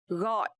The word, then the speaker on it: gọi: So here letter G in Vietnamese we pronounce like g. And also the toe mark is dấu nặng. So this word we will pronounce gọi.